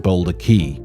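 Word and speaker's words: Boulder Cay: and a portrait of merrick and his son boulder key which is now a tall tale location started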